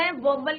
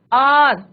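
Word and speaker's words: hour: जब मैंने आर्टिकल्स पढ़ाए थे आपको, तब मैंने बताया था कि यहाँ पे एच क्या है बच्चों? साइलेंट। और प्रोनाउंसिएशन किसका हो रहा है? वोवल का हो रहा है। आर, हवा नहीं बोलते बेटा इसको, राइट बच्चों?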